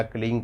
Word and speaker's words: क्लीं: जब हम मंत्र जाप करते हैं तो जो अंगा का साउंड होता है या अम का साउंड होता है वो बाद में वैसे भी साइलेंट हो जाता है, सिर्फ क्ली क्ली रह जाता है, यानी कि क्ली